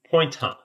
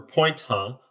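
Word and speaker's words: point?: structure definition, and that's point question mark, or as I'll pronounce it, pointer. Make point of 1 and 2 is true. But point question mark or point huh allows us to ask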